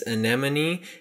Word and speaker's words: Anemone: how to say it it's anemone it's like a sea anemone so I'm still no